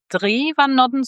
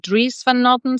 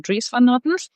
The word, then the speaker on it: Dries van Noten: that I was sure you would like you pronounced his name like Dries van Noten, so without the S. But then they were actually saying Dries van Noten, so now I'm gonna be saying Dries van Noten.